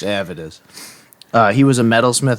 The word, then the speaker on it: Avedis: world um avidus zilan who I had always pronounced aidus but through my research I've discovered pronounced Avid is uh he was a